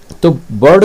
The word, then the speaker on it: bird: ठीक है, तो ब, यहाँ बी से बना ब, और ये आपका आ का उच्चारण दिया, और ये डी आपका डा का उच्चारण दिया, तो बर्ड, इसमें आर जो है साइलेंट के रूप में है।